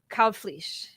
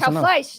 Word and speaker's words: Kalbfleisch: am going to do my best to properly pronounce his name the right way. So Ismael Yes. Kalbfleisch. Kalbfleisch, close Kalbfleisch.